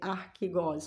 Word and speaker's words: archegos: Ela é uma palavra grega, então a pronúncia seria essa, de acordo com o Google, né? Com a translation do Google, eu pude entender que é archegos, ou seja, traduzida para português seria como fundador.